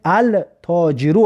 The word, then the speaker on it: التاجر: مثلا در رقم 7 رو ببینید التاجرو است، لیکن لام تلفظ نکرده سیم.